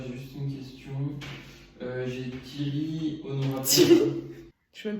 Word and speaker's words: Thierry: Tout le monde dit Thierry, c'est un E muet, c'est comme paiement. Mais n'importe quoi. E muet, ça veut dire que tu l'entends pas, que tu le dis pas, comme le H.